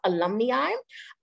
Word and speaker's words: alumni: So this term that you see here is pronounced alumni.